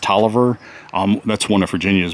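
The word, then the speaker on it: Taliaferro: later in life and talia farrell pronounced toliver um that's one of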